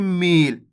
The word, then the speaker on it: मील: लगी हुई है तो अपन कैसे पढ़ेंगे खींच के मील और मैं यहां पर